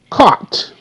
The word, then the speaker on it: caught: c a c C caught GH is silent okay now you notice